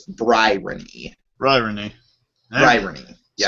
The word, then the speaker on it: Bryony: Okay, think about the word irony, except instead of irony, it's Bryony.